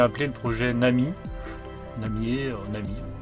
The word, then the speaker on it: Namie: le projet Nami namier Nami on va dire Nami pourquoi Nami donc ça